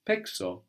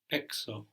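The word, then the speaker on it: παίξω: Z or I play the point version of pezo is pexo pexo so here the Z doesn't become s it becomes K so that's just one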